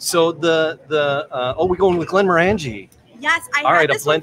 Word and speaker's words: Glenmorangie: 1.5 ounces of Glenmorangie. And that's the proper saying of it too.